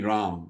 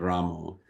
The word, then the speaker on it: Ram: So Ramu also is allowed and so so that's the Bengali way of saying it. And so so many devotees from North India they say should be Ram not Ramo.